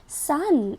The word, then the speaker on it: son: बेटे को हम बोलते हैं सन। एस ओ एन सन। और एस यू एन क्या होता है? एस यू एन होता है सूरज। इस वर्ड को भी हम सन बोलते हैं और इसको भी हम सन बोलते हैं।